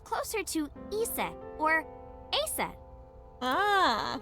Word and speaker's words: Aset: is named Isis but in ancient Egyptian it's pronounced closer to EET or aset ah H how do I explain this horus's